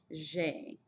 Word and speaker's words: j'ai: J'ai. J'ai. It's just like a blue jay bird almost, except for the J is a little softer.